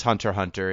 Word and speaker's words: Hunter x Hunter: call it spy family it's like Hunter x Hunter you don't pronounce the X it's yeah it is hunter hunter in jet in Japan so I think it's spy family